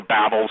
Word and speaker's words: Babel: Chris Putnam, Steve Quayle, Tom Horn are right back at the Tower of Babel, or Babel. Some people pronounce it one way, some pronounce it the other.